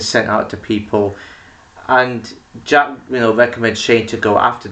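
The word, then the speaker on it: Jaq: It's about this woman called Jack. And no, not Jack spelled with J-A-C-K, it's J-A-Q. And I thought it was like Jacket or something, but it's actually short for Jacqueline.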